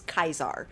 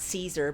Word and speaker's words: Caesar: for this person is Kaiser not Caesar because it sounds like he pronounces all soft C's with a hard C so we will be